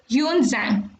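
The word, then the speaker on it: Xuanzang: Buddhist pilgrims Fa Yan, Yunzang and I King. X is to be pronounced as H. So you will read this as Fa Yan and this is Yunzang and I King.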